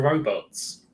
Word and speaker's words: robot: Are you saying your co-workers were robots? I'm saying that they're not very intelligent. So they are robots? Robots would have done a better job. I mean, the original Czech pronunciation is robot.